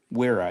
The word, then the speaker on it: Wera: That's how you pronounce it, German. Yeah. W's like my last name is, but if I go to Germany, it's Herr. The Wera. W's are V's in Germany, and V's are W's.